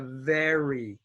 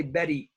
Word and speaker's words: very: now next we have very very now be careful don't say Betty Betty Betty Betty okay I